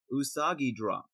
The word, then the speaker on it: Usagi Drop: for next episode we will be talking about usagi drop is is that how it's pronounced jay besides a rabbit drop yeah yeah